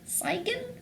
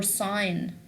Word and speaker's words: sign: Now, if you have this word, do you say Seigen or sign? If you don't know the consonant pattern, some of the boys or the girls or any student, he can say Seigen or Gnat or Gnash, but this is not true actually.